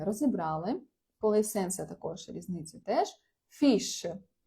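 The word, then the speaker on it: fixe: Фіш. Е, фіш - це читається не фікс, не фіз, не фі, не як ще. Ну, коротше, це читається як фіш.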